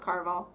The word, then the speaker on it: Caraval: I think it's pronounced Caraval.